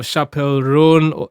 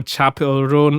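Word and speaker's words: Chappell Roan: how to pronounce that I realized it's chap it's Chapel not Chapel it's Chapel run um and yo performance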